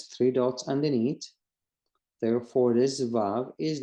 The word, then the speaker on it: Vav: It's actually pronounced and it sounds like a V in English, and the word is Vav.